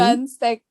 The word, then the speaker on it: 빨간색: Because there is double B. Balgansek. Yeah. Yeah, so you have to make it. It's not just 발, it's 빨.